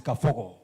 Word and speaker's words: Kabogo: Let's give a round of applause to Honorable William Kabogo. Asante sana. I don't know whether you know how we pronounce it in my village. It's Kafogo. Oh, Kafogo.